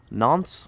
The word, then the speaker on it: Nantes: They go to, how do we pronounce this, Ian? Nantes.